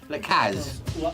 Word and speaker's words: Lars: Laz l.